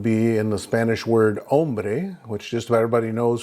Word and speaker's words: hombre: Hombre with an O, hombre. But you'll notice you start with the pronunciation of the O. The H is silent.